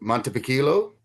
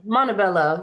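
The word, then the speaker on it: Montebello: How can we use blue light in our daily lives is a question from Oh, is it Montipilo? Did I pronounce that right? California. Hopefully I did. I think Montabelloo.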